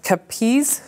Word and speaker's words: capiz: I think that's pronounced capiz, C-A-P-I-Z, shell chandelier.